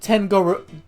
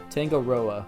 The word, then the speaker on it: Tangaroa: I'm Tangoro. I get the pun, but I'm pronouncing it wrong. Tangoroa.